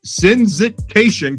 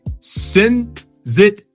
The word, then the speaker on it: sensitization: So you won you won the UN ODC competition for sensit sensit sensitation campaign. Wait, sensitization.